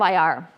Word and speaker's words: Iyar: so here we are at the month of ir yay we're finally here that's how you spell it i y a r um cap last